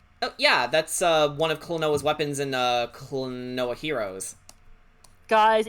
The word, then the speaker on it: Klonoa: Because I don't actually know how to pronounce it. It's Klonoa.